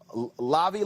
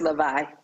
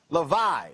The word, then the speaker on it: Levi: i pronounce that correct is it lobby uh lockers no it's levi levi okay levi's all right okay